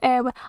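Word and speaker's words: Éowyn: Pronounced Eowyn.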